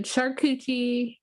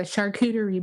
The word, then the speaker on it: charcuterie: bump a few lines um but yeah so sharkuchi board which is a charcuterie board for those who can pronounce it properly but it's funner to say sharkuchi or call it a cooter board a cooter